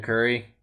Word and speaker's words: Curry: Stephen Curry. Yeah. Warriors. I hope I pronounced his name right.